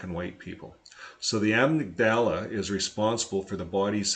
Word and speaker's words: amygdala: Now they get into the 2 parts of our brain, and he says he was surprised to find that the amygdala, that's how you say it, this word right here, amygdala, it's the brain's panic button.